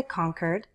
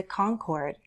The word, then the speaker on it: Concord: the Granite State now I say Concord some might also say Concord let's not talk about right or wrong let's just talk about the variations you may hear I say Concord Concord